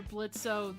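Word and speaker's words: Blitzø: Logan says, no, that's the main character, Blitzo. The O is silent, sister.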